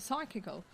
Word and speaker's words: psychical: Paul Adams tonight and he is a freelance writer with a long interest in psychical is that how you pronounce it psychical yes research and the paranormal